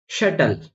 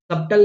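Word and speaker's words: subtle: जैसे शटल, यहाँ पे मैंने बी का प्रोनाउंस नहीं किया है, सबटल नहीं बोला, शटल कहा है।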